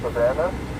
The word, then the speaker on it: Savannah: Thomas County, first of Savannah, phonetically Sam, Adam, Victor, Adam, Nora, Nora, Adam, Henry.